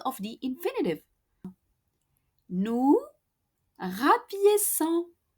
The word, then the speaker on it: rapiéçons: Nous rapiéçons with the cedilla under the C because C in front of an O is pronounced co normally in French. And to keep that S sound of the infinitive rapiécer, we need to add that cedilla.